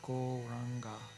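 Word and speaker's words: Gauranga: add the wonderful mantra go ranga to our practice make it a full meditation practice goranga has four syllables the golden lord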